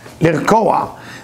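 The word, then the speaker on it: לרקוע: That work to work with the copper called lirkoa, with ayin, lirkoa.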